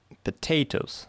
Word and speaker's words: potatoes: So, potatoes. The second syllable is stressed.